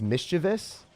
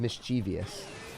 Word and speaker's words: mischievous: So, I think it's mischievous. That's how you're supposed to say it, but I always said mischievous.